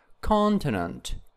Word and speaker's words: continent: And continent, continent, also it is on the first syllable.